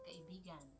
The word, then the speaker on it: kaibigan: You have lots of kaibigan.